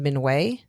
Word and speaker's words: Minhwa: So Mininoa art. I've also heard it pronounced Minway, but I but there were more pronunciations of Mininoa.